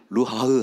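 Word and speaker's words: רוח: 생기라고 하는 이 단어, 생기라고 하는 단어는 히브리어로 루하흐라고 하지만 발음도 그냥 루하흐 할 때 안에서 이렇게 호흡이 나가죠.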